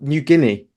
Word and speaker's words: New Guinea: South America and in new new GAA I don't know how you say it in English you ginaa where oh New Guinea New Guinea New Guinea yeah okay yeah they examined